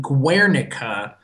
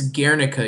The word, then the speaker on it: Guernica: I've seen it, and it's beautiful, and I pronounced it Guernica, when in fact it's La Oh, you Guernica, not hasty.